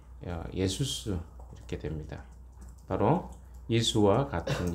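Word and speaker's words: Ἰησοῦς: 대하여 준다는 의미입니다 이것이 이제 신약으로 가면 헬라식 발음하면 예수스 이렇게 됩니다 바로 수와 같은 이름이 되는 것입니다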